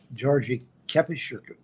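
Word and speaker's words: György Kepes: Recently, I've been reading a lot by, I don't know how you pronounce his last name. It's Georgi Kepes, but it's a Hungarian name.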